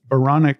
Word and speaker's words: Baranek: Well, okay, I'll tell you this, and clever people who are listening, and people have pointed this out to me, Baranek also rhymes with moronic.